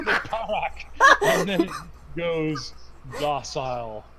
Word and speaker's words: Parak: I think that's what Jory was saying, but he was putting a T at the end. Yeah, he said parrot, and I'm like, that's so close.